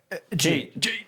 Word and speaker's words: Jade: Jade. Oh, yes. Rhymes with Cade.